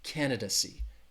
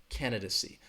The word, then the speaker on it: candidacy: first syllable candid see that third syllable has that schwa that duh duh candidacy candidacy again if it helps